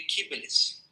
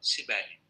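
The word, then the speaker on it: Kybele: e que é uma representação de kíbelis, muitas pessoas pronunciam latinizado, sibelli, né?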